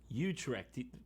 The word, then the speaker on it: Utrecht: that can't be right oh we're on the american pronunciation let's switch to the dutch the british pronunciation utrecht i feel so cultured there's just no way i'm learning you tricked you tricked there's no replacement for being worldly give me a dutch guy saying you trek for god's sake how